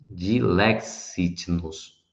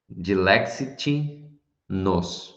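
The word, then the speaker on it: Dilexit nos: Dilexit-nos, né? Enfim, pronúncia difícil quando tem esse X e um T mudo.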